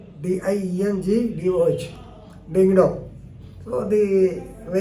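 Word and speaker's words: Diengdoh: Chief Justice of Meghalaya, you know, is Sanjeev Banerjee, but they pronounced as Sanjeev, S-A-N-J-I-B, Sanjeev Banerjee, and W.D. Dingdo, D-I-E-N-G-D-O-H, Dingdo.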